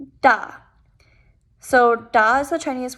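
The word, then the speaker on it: 大: this is the chinese word for big it's pronounced da da so da is the chinese word for big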